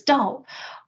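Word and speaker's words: 道: And then the second character is pronounced in Chinese as Dao, often translated into English as the way with a capital W.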